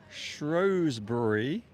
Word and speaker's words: Shrewsbury: So for those wondering where we are in Shrewsbury. That is how I'm pronouncing it, and that is how everyone from now on will pronounce it as well.